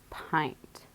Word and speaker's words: pint: go over this one everyone says that's exactly what it looks like pint but this is a red word pint you might see jelly